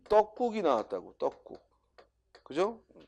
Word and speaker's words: 떡국: 자, 그런데 우리 시험에 뭐가 나왔냐면 이 떡국이 나왔다고. 떡국. 그죠? 그럼 떡국을 로마자로 옮기면 발음이 떡국하고 된소리가 나죠. 그죠?